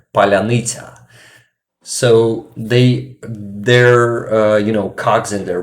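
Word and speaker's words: паляниця: It is a big roundy bread we have in Ukraine, and Russians usually say palanitsa, but it pronounced like palyanita.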